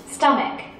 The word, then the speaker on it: stomach: Stomach. Stomach. 자, 아직도 이 발음을요, stomach라고 헷갈리는 친구 있습니다. ch가 크 발음 나는 경우도 있어요. 대표적인 케이스죠.